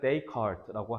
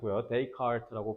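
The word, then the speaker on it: Descartes: 데카르트의 프랑스 사람에서 발음은 데이 컬트라고 하시면 돼요 they cart라고 발음하시면 돼요 그래서 플라톤부터 데카르트까지 다양한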